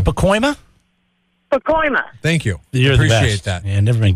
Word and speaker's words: Pacoima: he also is from Paco Hema Jackie how do we say it Jackie I'm sorry go ahead it's Pacoima and it's north of San